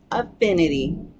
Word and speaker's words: affinity: okay let's start with our first word affinity affinity it is a tea flap word that tea